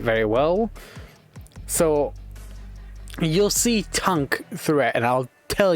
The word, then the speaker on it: Tunk: Depends how you want to pronounce it. I'm going to call him Tonk, even though it's spelled t u n k. This tank, this instead of a it's a u.